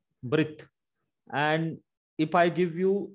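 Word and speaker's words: בְּרִית: Now this Shiva is vocal and it gives a small E sound of the Segol. So the pronunciation will be Brit. Brit.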